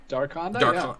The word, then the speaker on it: Darkonda: Darkonda? Darkonda. Yeah. I always imagine it as an evil, like, affordable compact car. Like, it's a dark Honda, and that's how it's spelled too. It's dark Honda.